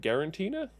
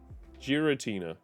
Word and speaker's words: Giratina: Brilliant diamonds to get uh where is it gutina gutina I always called the gutina Pokemon